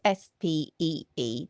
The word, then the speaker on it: Spee: His name was Friedrich Spee. That's s p e e, but pronounced Spee.